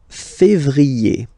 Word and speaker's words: février: So that's the way to pronounce it. Janvier. A-N, en. Okay? And then ye. Janvier. Then comes février.